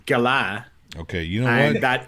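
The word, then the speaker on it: galah: a it's an australian gala actually i it's pronounced gala okay you know what that is it's pronounced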